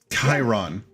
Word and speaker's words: Chiron: o n c Karen Chiron it it's it's definitely pronounced like Karen e they pronounce it pronounce it shiron in Smite so yeah